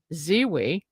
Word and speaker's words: Zewe: And our first guest is Ziwi. Did I pronounce that right?